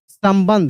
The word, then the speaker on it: संबंध: ऐसे सम ब के ऊपर बिंदी और ध यहां पे स्पष्ट ध बोला जा रहा है संबंध है। लेकिन एक चीज ध्यान दीजिएगा इसमें म का उच्चारण हो रहा है।